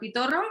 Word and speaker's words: Pitorro: Coquito? Or am I saying this what? Pitorro? Am I saying it right? Yep, you're saying them right.